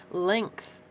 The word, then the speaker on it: length: is an interesting thing length how we have a g there that actually sounds like a k sound that's interesting sport we